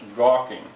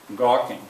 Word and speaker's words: gawking: uh which is the how many syllables and which one is stressed gawking i hope you know listen gawking how many well there's